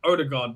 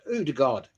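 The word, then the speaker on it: Ødegaard: ironic thing is, Jez, you actually pronounce Odegaard the way that Norwegians actually pronounce it. I only say it like that because I've heard when I've watched Norway play, the guy said Odegaard.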